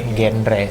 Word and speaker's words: genre: atau genre lah ya, genre. Cuman memang ternyata cara bacanya genre bro. Oke. Nuansa Francis gitu lah ya, genre ya.